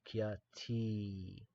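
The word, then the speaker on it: ख्याति: Kyati. Abhinava Anyatha Kyati. Abhinava Anyatha Kyati. Kya, K and a Y connected. Kya, T, T-E, T-E, T-I, okay, but it's pronounced E, okay?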